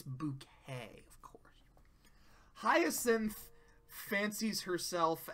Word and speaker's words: Bucket: pronounce her last name it's not bucket it's bouquet of course hin fancies